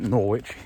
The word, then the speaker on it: Norwich: I keep saying Norwich but they do definitely pronounce it Norwich here um so um now the wonderful Reverend